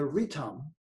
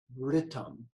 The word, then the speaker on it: ritam: The ritam, pronounced ritam like written, ritam, that ritam is the laws of nature.